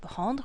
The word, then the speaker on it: rends: So basically it becomes je rends, tu rends, il rend, nous rendons, vous rendez, il rende. Now this word, and this word are all pronounced rend. You don't pronounce the D or the S.